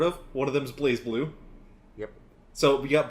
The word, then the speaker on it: BlazBlue: One of them is BlazBlue. Yep. So we got It's not BlazBlue. BlazBlue? It is actually BlazBlue, but it's BlazBlue. It's spelled that way, but it's BlazBlue. So BlazBlue, Persona 4 Arena, and Undernight Imbirth.